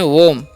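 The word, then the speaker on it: womb: WAMB है, तो इसे हम पढ़ते हैं वोम।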